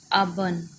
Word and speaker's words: auburn: Auburn. AUBURN, auburn. Two syllables. Auburn में a first one is stressed and bun is second one schwa.